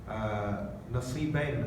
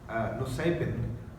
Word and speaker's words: Nusaybin: and this person is in Nasibain, as it's pronounced in Arabic, Nusaybin, as it's written now in English, which is sort of southern parts of modern day Turkey.